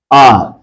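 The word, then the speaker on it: hour: ये है आर, आवर कहते हैं, लेकिन स्टैंडर्ड प्रोनाउंसिएशन में आर है।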